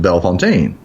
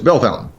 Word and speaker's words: Bellefontaine: ta ine so my French weena wants to pronounce it belfontaine no it's Bellefontaine yeah I was gonna say a whole lot